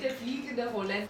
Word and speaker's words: Der fliegende Holländer: play Senta in the fliegende Holländer. Did I say it right? Yeah, pretty good, pretty good. You say it. De fliegende Holländer.